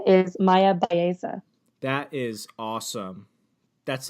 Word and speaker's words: Bowermaster: How do you pronounce that? I did. So my new name is Myah Bowermaster.